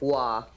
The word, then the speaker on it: Roy: all right no you said his name wrong it's not Roy it's Patrick law what raw his name